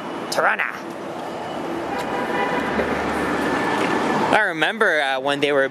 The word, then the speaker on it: Toronto: here for many years they call it Toronto they pronounce they just actually pronounced the second tea like that but I don't that's that's not the way to do it that's out the way there's always Toronto Tarana I remember when they